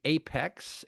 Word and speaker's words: Aiphex: His company Apex, it's spelled AIPHEX, has put together much of the technology and architecture for the solution.